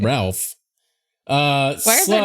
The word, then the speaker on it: Ralph: I think it's actually pronounced Rafe for what it's worth. Oh, wow. Nice. I mean, it's spelled Ralph.